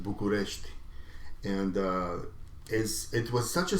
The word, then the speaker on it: București: In Romanian we pronounce it București, and it was such